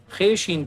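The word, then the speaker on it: خوش: खे शीन पेश खुश, वाव साइलेंट है।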